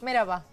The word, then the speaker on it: merhaba: Merhaba. Merhaba. Es merhaba con H, pero la H un poquito.